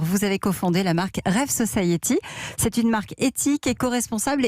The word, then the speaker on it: REV Society: D'abord, je voudrais repréciser pour commencer, on s'appelle donc Rêve Society, ça s'écrit REV plus loin Society.